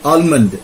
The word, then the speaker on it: almond: Almond. It's almond. Amen. L is silent.